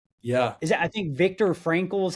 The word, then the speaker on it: Viktor Frankl: Is that I think Viktor Frankl is how you say his name?